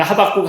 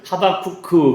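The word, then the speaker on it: חבקוק: 어 히브리 말로 하박국이라는 뜻이고 근데 읽을 때는 우리는 하박국 하박국 그러는데 진짜 히브리 말은 하박크 그렇게 읽는 거래요.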